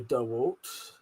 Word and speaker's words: DeWalt: Dewalt. Dewalt. Pete said, "I've only ever heard Americans say Dwalt." Uh though DeWalt sounds alien to me.